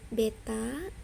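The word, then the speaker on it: β: Ini bacanya alfa ya, ini bacanya beta, ini bacanya gamma.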